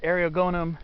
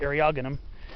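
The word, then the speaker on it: Eriogonum: california buckwheat right here this is ariel gonum or some people might pronounce it aryagenum phospholitum variety or subspecies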